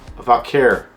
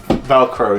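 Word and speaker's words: Vaquer: I'm pretty sure if I can recollect correctly, it's Stephanie Valkyr. Stephanie Valkyr. Sound like I'm saying it in an Indian way.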